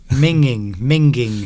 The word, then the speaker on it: minging: Minging. Thank goodness for that. I'm glad you pronounced it correctly.